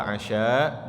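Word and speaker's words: عشاء: Nah, ini bahasa Arab Masya Allah, kalau nggak ada harokatnya harus tahu konteks kalimatnya. Kenapa? Karena kalau dibacanya wa hadaral 'isya artinya beda lagi. Asya itu artinya hidangan makan malam, kalau isya apa? Salat isya. Salat isya.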